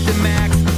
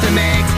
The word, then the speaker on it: DeMakes: It's pronounced DeMakes, DeMakes, DeMakes. You can forget all the rest. Uppercase D, lowercase e, uppercase M, lowercase a, K-E-S.